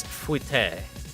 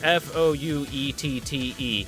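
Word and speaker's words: fouetté: Oh, chat, by the way, I've been pronouncing what she's been doing wrong. It's fouette. Because French is freaking stupid. Spelled F-O-U-E-T-T-E. Fouette.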